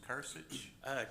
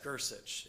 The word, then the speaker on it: Grcich: Sir, your name was Kursich? Gersich.